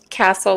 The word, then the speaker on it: Kastl: Castle, like the building. It's just spelled differently.